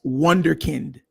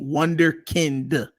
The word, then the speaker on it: Wunderkind: where it came from it's pronounced wonderkind with a d wonderkind and uh it means